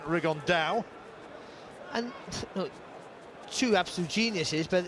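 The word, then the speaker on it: Rigondeaux: tate's talked about fighting rigondo or as he's correctly pronounced with the uh spanish accent rig on dao and two absolute geniuses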